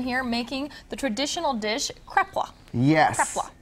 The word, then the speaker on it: kreplach: got Eric Hyman here making the traditional dish kreplach yes right oh you said it right thank